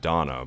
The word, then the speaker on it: Dana: on top of that now you have donna but it's spelled dana i guess they could